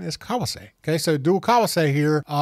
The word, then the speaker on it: Kawase: But the proper pronunciation is kawase.